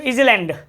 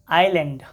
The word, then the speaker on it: island: ठीक है, S silent देखो, एस साइलेंट में क्या होता है, मैक्सिमम स्टूडेंट्स क्या पढ़ेगा, ISLAND, मैक्सिमम पढ़ेगा इसको इजलैंड। अरे भैया इजलैंड नहीं, आइलैंड, द्वीप, ISLE।